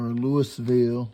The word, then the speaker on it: Louisville: It's not Louisville or Louisville, Louisville, Kentucky.